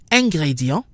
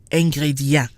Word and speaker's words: ingrédient: Same thing with ingrédient. Because the I is in a separate syllable from the EN, we get ingrédient and not ingrédient.